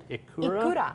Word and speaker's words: ikura: I can't even pronounce that. Ikura? Ikura.